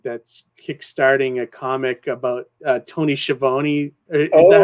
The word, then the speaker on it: Schiavone: I mean, we have a guest tomorrow night that's kickstarting a comic about Tony Schiavone. Is that how you say his name? Tony Schiavone? Is that how you say Tony it? Schiavone, yeah.